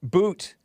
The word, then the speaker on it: Bout: Boot. Victor Boot, yeah, Bout is how it's spelled.